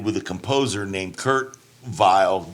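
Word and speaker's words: Weill: a composer named Kurt vile German w e i l but it's pronounced vile um and they wrote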